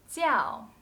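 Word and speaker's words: 教: you know it is jiao to teach what zhao zhang wen i teach chinese but when it is used as one part of a noun it should be pronounced jiao fourth tone such as jiao shu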